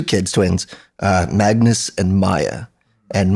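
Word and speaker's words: Maia: And yeah, like having somebody, like I want to have 2 kids, twins, Magnus and Maya. And Maya is spelled M-A-I-A.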